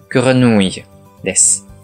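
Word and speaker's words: grenouille: 続けて発音すると、グラヌイです。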